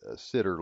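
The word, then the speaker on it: CIDR: alright now I've added the sitter line or The Cider line depends on how you pronounce it it's CID R it doesn't really matter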